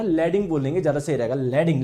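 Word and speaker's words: Leydig: लैडिंग cell, या आप लोग इसको हिंदी में लेडाइंग भी बोल सकते हो ना, लैडिंग बोलेंगे ज्यादा सही रहेगा। लैडिंग लैडिंग लैडिंग, इसका प्रोनाउंसिएशन क्या है, लैडिंग है, ठीक है।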